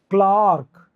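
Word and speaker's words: clerk: पहले भी आया था क्लार्क तो क्लार्क होता है आ का साउंड देगा यहां पे क्लार्क पार्क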